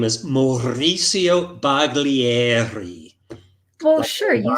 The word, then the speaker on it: Baglieri: I would pronounce his name as Mauricio Baglieri.